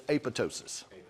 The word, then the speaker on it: apoptosis: for programmed cell death apoptosis that's that's how you say it to learn how to spell it but it's apotosis apotosis but I say apop so I remember that silent p is in there so apotosis programmed cell